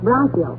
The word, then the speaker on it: bronchial: The word is bronchial, dearie, and it's pronounced bronchial. Bronchial?